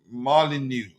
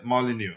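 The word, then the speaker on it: Molyneux: Uh, Malinu. Okay. Uh, that's how to pronounce it. Okay. Molyneu.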